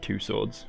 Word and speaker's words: Tussauds: I call it Two Swords, because that's how it's spelt.